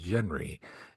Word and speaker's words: Genly: protagonist, his name is Genly I, and the fact that they couldn't pronounce the L in Genly, so it came out as Genry.